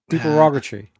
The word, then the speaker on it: supererogatory: How do we pronounce that word, Dave? Supererogatory.